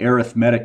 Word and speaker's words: arithmetic: The first one is called the arithmetic sequence, and notice how I pronounce that.